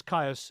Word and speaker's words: Kyuss: Yeah, it is Kyuss.